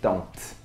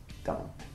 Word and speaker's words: don't: Outro exemplo, quando você usar don't, você vai se acostumar a não pronunciar tão forte, né? O T, né? Don't. É um T bem sutil, né? Don't.